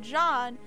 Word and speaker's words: Jean: a while but um jean like he's from france so you pronounce it john but like in america you see that like spelling you pronounce it as like gene and it's a girl's